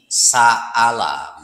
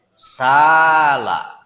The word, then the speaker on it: سأل: Satu dibaca dengan hamzah berarti sa'ala begitu. Dan satu lagi dibaca tanpa hamzah. Berarti kalau tanpa hamzah dibacanya sala. Gitu.